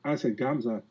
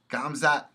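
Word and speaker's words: Khamzat: I say Gamzat. Gamzat Chimaev. Chimaev. K-H is like a G, so you should pronounce as a G.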